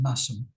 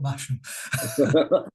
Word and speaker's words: Masham: on the marketplace in massam sorry it's it's pronounced massam by the way not masham okay thank you for